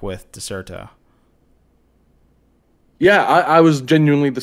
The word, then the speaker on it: Dexerto: Oh, is that why it's pronounced Dexerto? Because Yes. it was a C before.